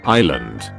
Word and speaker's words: island: Island. S is silent.